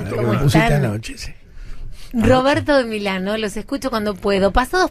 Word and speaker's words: Milano: Qué mala en pasa, italiano se dice Milano.